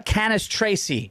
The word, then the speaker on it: Cannistraci: in the ranks ladies and gentlemen uh Tara canis Tracy yes and I've been I was so worried